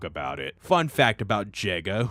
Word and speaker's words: Jega: it fun fact about jega whose name rhymes with sega this fight is eerily